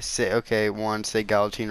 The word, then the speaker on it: Galatine: sit okay once a gal teen right and I say gal teen I don't say calla tine I don't say guillotine now I don't say